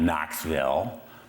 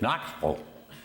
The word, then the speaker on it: Knoxville: "You're saying Knoxville. It's not Knoxville. Not if you're from Knoxville, it's Knoxville."